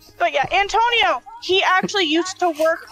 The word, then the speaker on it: Antonio: Oh, Anthony!